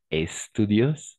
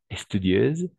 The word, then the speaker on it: studieuse: On va commencer avec le S, pas studios, studieuse, sinon studieuse, d'accord? Studieuse, studieuse, voilà, studieuse que Julie. Charlotte est moins studieuse que Julie. D'accord. Studieuse.